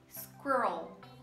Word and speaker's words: squirrel: E pra mim é uma das mais difíceis do inglês, que é squirrel, squirrel. Podemos separar ela em duas sílabas, squirrel, squirrel. O segredo aqui é você saber enrolar esse R, né, squirrel.